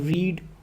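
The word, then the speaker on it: read: verb कहेंगे इसी तरह रीड जो है यह जो है फर्स्ट फॉर्म ऑफ वर्ब है इसकी पास्ट फॉर्म रेड है स्पेलिंग यही होंगे लेकिन वो रेड हो जाएगा पढ़ने में प्रोनंसिएशन रेड होगी तो उसमें भी ईडी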